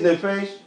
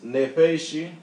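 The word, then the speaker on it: נַפְשִׁי: If this Hebrew is not your natural language, you're just going to say it's nefesh. But you won't understand that there is a what? There's another vowel right here. if you truly want to pronounce this word like us, like the true speakers of the language. So this is the word here. The word is nepheshi.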